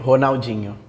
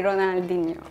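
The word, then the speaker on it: Ronaldinho: art likeon honalo yeah so like in Brazil we say honalo in Turkey we say ronaldino in United States we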